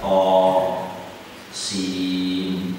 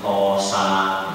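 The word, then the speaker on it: طس: ya ain shad, ada to sin, ya. Pernah ada baca tosin itu kan pertama ngaji bacanya tosa, tosa itu motor.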